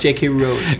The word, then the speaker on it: J.K. Rowling: Tweet J.K. Rowling. Rowling. Ooh. J.K. Rowling. Now, are you sure that's the British pronunciation or the American pronunciation? I'm sure it's J.K. Rowling.